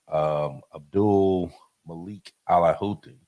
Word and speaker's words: Abdul Malik al Houthi: Now the Houthi leader, Abdul Malik al Houthi, said on Great.